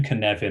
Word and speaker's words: Cynefin: for ibm global services the name canevan i'm told comes the welsh language hence the pronunciation which might not be what you expect it apparently approximately means